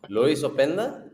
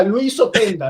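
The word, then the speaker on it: Loïs Openda: Luis Openda, no que pero tú qué crees que es de Guanajuato allá. Luis Openda, no, viejo. Es francófono. Lo tienes que decir. Luis Opend por la boquita.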